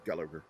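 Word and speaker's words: Gulager: I have always said Gullagher. Okay. It's just the way his name is spelled.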